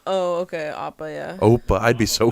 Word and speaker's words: Appa: No, I think they Oh, call him thought- Appa. I think I'm off. So they call. Oh, okay, Appa. Yeah. Oppa. I'd be so fucking pissed. Could you imagine they fuck up Appa's name? Oppa. That's so dumb.